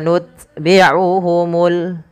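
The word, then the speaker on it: نتبعهم: Maka langkah pertama dia syiddahnya ut gitu ya, nut, baru ada hamasnya, nut sedikit saja, tapi jangan banyak-banyak. Summa nutbi'uhumul ya, summa nutbi'uhumul akhirin.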